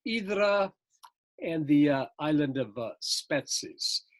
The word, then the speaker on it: Hydra: But here's Hydra, Greeks pronounce it Idra, and the island of Spetses, just to give you an idea where these islands are located.